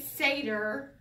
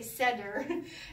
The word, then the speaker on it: seder: All right, so you say seder, I say seder.